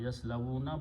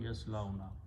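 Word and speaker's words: يَصْلَوْنَ: And when waw is there, this is not pronounced. So it becomes yaslaw, yaf'aluna, yaslawna, yaslawuna, but yaslawna.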